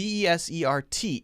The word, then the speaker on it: desert: the first one d d-e-s-e-r-t is a verb verb we pronounce it in the same way as d-e-s-s-e-r-t desert why well one reason